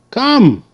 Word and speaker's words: come: Come. E is silent. Okay, E is silent. Okay, you see that C made the K sound. K, k, k. And the O made the schwa sound. Come.